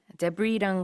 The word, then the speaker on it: debris: 자, rubble이라는 게 잔해, debris랑 같은 의미인데요. D-E-B-R-I-S. S는 발음하지 않습니다.